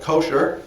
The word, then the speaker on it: kosher: okay in modern jewish american it's usually called kosher so it's usually pronounced for the accent on the first syllable